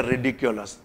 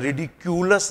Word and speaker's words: ridiculous: Synonym में कहेंगे रिडिकुलस। This is, इसका भी प्रोनाउंसिएशन रिडिक्यूलस नहीं है, दिस इज रिडिकुलस।